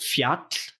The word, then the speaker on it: fjall: That's like, and then a double L is actually like the TL in kettle. So fjall is like FJALL.